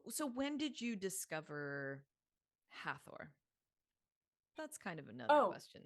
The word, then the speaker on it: Hathor: because it's spelled uh h-a-t-h-o-r so we want to say in English hathor we want to make the th a sound however as you know